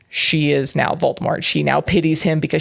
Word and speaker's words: Voldemort: There's no T at the end. You're supposed to say Voldemort. Voldemort.